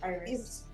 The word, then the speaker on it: Iris: Is it Iris or Iris? It's Iris. Iris? Iris in Spanish, but it's Iris.